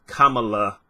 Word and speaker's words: Kamala: So I thought everyone was pronouncing her name incorrectly. Turns out it's Kamala.